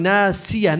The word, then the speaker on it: ناصية: Remember, we kept saying nasiya, not si, soy. Sod is heavy.